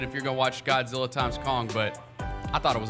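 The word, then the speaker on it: Godzilla x Kong: Godzilla times Kong. This isn't versus because they're friends now. It's Godzilla times Kong.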